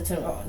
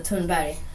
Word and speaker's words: Thunberg: Her name is Greta Thunberg. That's the English pronunciation, but in Swedish it's Greta Thunberg.